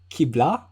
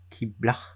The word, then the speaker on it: Qibla: Is it Qibla? Okay. You need to lessen the pronunciation. It's not that intense. Oh, it's breathier, right? Yeah, it's breathier.